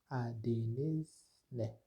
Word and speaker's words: adınız ne: C'est-à-dire pour demander le nom de l'autre, on dit adınız ne. Adınız ne, qui signifie quel est votre nom. Cela se prononce adınız ne.